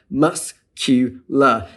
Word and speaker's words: muscular: However, in the word muscular, a U is added to the middle of the word, and that breaks up the syllable boundary so that now we have muscular. That consonant cluster no longer exists.